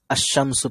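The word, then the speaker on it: الشمس: মুছে দিই, ঠিক আছে, তাহলে দেখেন আপনি যখন পড়তেছেন, কি পড়তেছেন? এটা আশামসু পড়তেছেন, তাই না? আশামসু, তাই না? আশামসিয়াতু, তাই না? এভাবে পড়তেছেন। বা আমি এদিকে এটা বাদ দিই, ধরেন কি পড়তেছেন, শামসু, ঠিক আছে? আশামসু পড়তেছেন, তাই না? আশামসু, আলিফটা এই যে এখানে লাম আছে, এই লামটা পড়তেছেন? পড়তেছেন না, তাই না?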